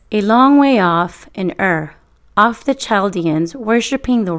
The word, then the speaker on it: Ur: plants it started in a place called ER which rhymes with fur ruled by people called